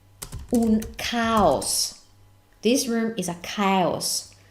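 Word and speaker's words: caos: email that's the same meaning but the different pronunciation via okay parola numero and that's cows now I know in English this has a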